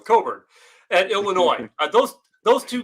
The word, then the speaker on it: Cockburn: uh curbelo and kofi cockburn i always say it wrong coburn at illinois those those